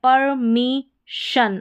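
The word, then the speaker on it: permission: यहाँ पर है टेलीविज़न, सभी में जन है और कहीं पर शन भी होगा, वो भी आगे स्पेलिंग्स आएगी। ये है विज़न। यहाँ पर है परमिशन, अब यहाँ पर देखिए शन आ रहा है, परमिशन।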